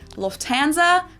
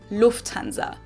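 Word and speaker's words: Lufthansa: In English, people usually say Lufanza, but in German, we say Lufanza. So, the emphasis on the first syllable, Lufanza versus Lufanza.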